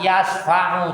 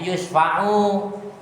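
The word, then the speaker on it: yusyfa'u: Dibaca yusfa'u bisa, yasfa'u juga bisa. Tapi kalau sanad Bapak itu dibacanya yusfa'u.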